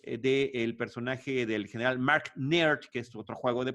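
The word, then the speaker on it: Naird: Y eso lo logramos ver a través del personaje del general Mark Nerd, que es otro juego de palabras. Nairt se escribe, pero es como si fuera nerd, ¿no?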